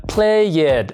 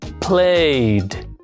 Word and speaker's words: played: En este caso, la ed vamos a reemplazarle por ese sonido played. Entonces no se pronuncia played, sino played. Veamos otro ejemplo.